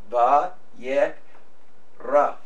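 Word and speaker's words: ויקרא: So there's our two syllables, va yek ra, and the aleph is silent, right?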